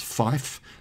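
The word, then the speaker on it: five: The pronunciation of the numbers 3, 5 and 9 sounds a little bit weird. 3 is tree, and 5 is fife, and 9 is niner.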